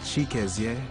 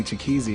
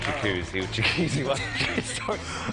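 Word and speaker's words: Chikezie: my name are nigerian the original pronunciation is chiques my name comes from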